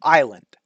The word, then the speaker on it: island: For example, island, right? That s is silent for no good reason.